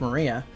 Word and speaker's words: Maria: Her name is written, of course, is pronounced Maria.